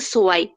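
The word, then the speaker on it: zwei: এখানে হচ্ছে গিয়ে ও যে এ, আর হচ্ছে কি ই এর উচ্চারণটা যেহেতু আই, তো এখানে হয়ে গেছে সোয়াই। হ্যাঁ, হুম, গুড। জেড এর উচ্চারণটা সেট, ইয়া।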